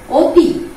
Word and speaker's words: অতি: কিন্তু এখানে লক্ষ্য করো, এই অতিটাকে যখন আমরা উচ্চারণ করব তখন আমরা বলবো উতি, ও দিয়ে উচ্চারণ করব।